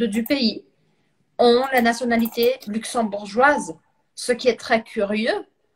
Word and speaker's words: luxembourgeois: De Et principalement luxembourgeois, on prononce avec un J, le luxembourgeois luxembourgeois.